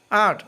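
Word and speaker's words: art: আর্ট অর্থ শিল্প, মাঝখানে আরের উচ্চারণ হবে না।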